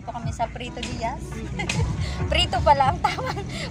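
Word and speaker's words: Prieto: Preto pala ang tamang pronunciation.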